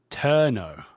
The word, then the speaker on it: Tornow: Someone who lived, I think maybe in the area not too far from you, but John Tornow, I think, is that how you pronounce his name? Turno.